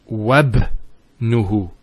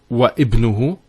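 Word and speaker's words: وابنه: we're actually reciting it, we don't pronounce this Hamza. We go straight to the ba. So it's wabnuhu. It's not wa ibnuhu, it's wabnuhu. It's like it joins the waw to the word ibn.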